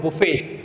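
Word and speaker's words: buffet: बफर जो बोलते हैं ना, उसको बोलते हैं बुफे। आप लोग आज इस वर्ड को देखना, इसकी स्पेलिंग क्या होती है। बफे सबने सुना होगा, बफर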